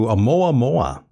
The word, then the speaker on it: Oumuamua: Yes, you're referring to Oumuamua. Oumuamua, right. I couldn't pronounce the name.